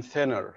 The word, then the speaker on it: thinner: خلي بالك thinner بتتنطق ثاء. تمام، thinner.